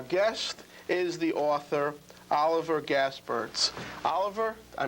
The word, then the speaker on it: Gaspirtz: show but our guest is the author Oliver gasperts Oliver I mispronounced your name welcome to Second To None